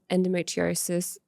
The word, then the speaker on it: endometriosis: And endometriosis.